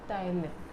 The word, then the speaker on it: ptyalin: It is pronounced as ptyalin, right?